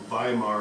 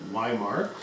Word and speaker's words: Weimar: the town of avemar w's are pronounced like these when you're speaking German so hence by Mar as opposed to my mark either is fine though potato potato whatever